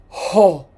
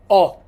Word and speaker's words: ho: You don't say ho. You say o. So the h is silent.